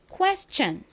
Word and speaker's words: question: 시 소리 나죠 그런데 하나 꼭 기억해 두셔야 될 점이이 t o n 이요 s의 바로 뒤에 오잖아요 그러면 션 소리가 아니라 천처럼 소리가납니다 그래서 션이 아니라이 단어는 Question Question 이렇게 발음됩니다 자 따라해 볼까요 Question